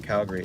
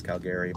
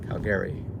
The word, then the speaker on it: Calgary: It's not Calgary, it's Calgary, by the way. Just FYI, it's the Irish pronunciation here in San Francisco. Calgary.